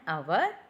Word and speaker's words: hour: We are not saying that H.